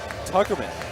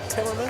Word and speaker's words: Timmerman: and then Tuckerman with 13 points. Did you say Tuckerman? I like it, but it's Timmerman.